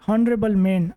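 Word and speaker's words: honourable: exporter he is dash हॉनरेबल मैन अब यहां पर जो आर्टिकल्स है इंग्लिश के वो लगेंगे ही इज इन हॉनरेबल मैन ठीक है ही इज एन हॉनरेबल मैन H silent है एच के बाद ओ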